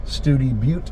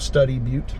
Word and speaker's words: Study Butte: This was opened by Dr. Studi, hence why this is Studi Butte instead of Study Butte.